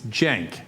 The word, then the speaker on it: Cenk: It's Cenk. It's okay. It's okay. But Kink, it's another thing he's wrong about, but no harm done.